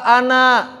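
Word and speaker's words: أنا: Dan orang-orang Arab ketika berbicara, kalau bacanya sendirian, enggak dibaca an, an. Saya itu bukan an kan, apa saya? Ana. Tapi ketika wasol, ananya enggak panjang.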